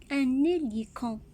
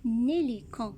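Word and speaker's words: hélicon: Regardez H ici au début et au début du mot. Donc, c'est une lettre muette. On ne va pas la prononcer. Il ne fait aucun son ici. Et ici, je fais la liaison. Un hélican.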